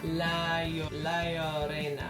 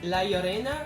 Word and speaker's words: La Llorona: research and it says the double L is its own letter in Spanish and it's pronounced with a Y, and I'm assuming because it's Spanish the R is rolled, which is why I'm trying to say it that way.